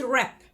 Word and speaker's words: wrap: Third word is wrap. W silent.